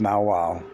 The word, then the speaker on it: nagual: of his life the now Wow was pronounced now Wow was the name given